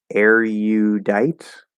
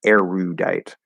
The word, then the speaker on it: erudite: So according to the dictionary, erudite with a Y sound or erudite without the Y sound. So two pronunciations.